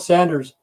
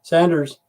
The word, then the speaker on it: Saunders: I think it's spelled the same way as Sanders. It's called Sanders. Sanders. I'm sorry, instead of Saunders. Sanders, Arizona.